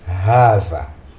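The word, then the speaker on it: هذا: nous allons étudier Hava Hava est prononcé Hava h mais est écrit sans le premier Alif c'est-à-dire si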